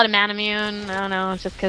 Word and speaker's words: Manamune: uh yeah people are just here me say manamune they did not realize that you actually pronounce it that way but that is the correct pronunciation for manamune it's a I think it's like a Japanese